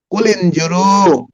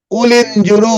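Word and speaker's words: قُلِ انْظُرُوا: কে জানেন বলেন তো কুলিনজুরু এটা হামজাতুল ওয়াসল হামজাতুল ওয়াসাল অর্থাৎ এই আলিফটা এই হামজাটা উচ্চারণ হবে না সাইলেন্ট হয়ে যাবে কুলিনজুরু আলিফ টাকে বাদ দিয়ে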